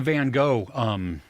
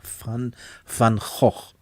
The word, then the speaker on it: Van Gogh: Yeah, they did the Van Gogh.